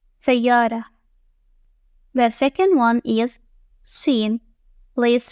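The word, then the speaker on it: شين: The second one is Shin. Place 3 dots above the teeth in a triangular formation. It is pronounced like the English SH sound in shell.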